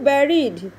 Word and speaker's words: bury: I wonder who varied, BURY, varied থেকে এসছে varied, উচ্চারণটা ব্যারি মনে রাখবে।